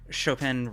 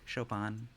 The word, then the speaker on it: Chopin: Chopin runs in and turns his back on a violent criminal?